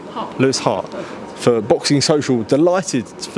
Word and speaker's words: Hart: Pronounce the H. Say again? What's your name? Lewis Hart. Lewis Hart.